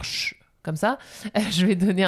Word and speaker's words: je: La prononciation des pronoms personnels où le E saute, ça c'est peut-être un peu plus basique, mais je vais jamais dire je. On va dire ch.